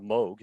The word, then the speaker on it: Moog: um and then having a moog synthesizer a moog actually pronounced a new instrument with an old-style song